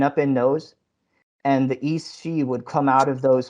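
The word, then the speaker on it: Aos Sí: the the word is Eos, but apparently it's pronounced East She, so I'm going to try to say it correctly.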